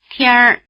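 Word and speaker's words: 天儿: The second syllable you're going to hear is the first syllable plus the R ending. 天天儿 Listen again, and notice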